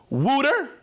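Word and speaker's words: Wouter: Wooter from Utrecht. Wooter. What a great name. Wooter. It's spelled W-O-U-T-E-R.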